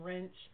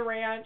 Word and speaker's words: ranch: a salad and sometimes people instead of pronouncing the a in ranch they pronounce it like an e and they ask me for some wrench and I don't like that either I mean I bring them the